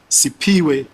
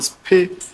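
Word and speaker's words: Siphiwe: A sixth witness called Sipiwe, or Spe, it's spelled S-I-P-H-W-E, could not compile any faces, but he mentioned that he saw an old green/blue sedan near the danger box.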